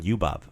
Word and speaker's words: ljubav: So we have ljut. That's the LJ sound, the same word as in ljubav. Same pronunciation.